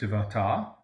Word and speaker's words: Devata: Then a certain Devata, or it would be pronounced Devata, in the far extreme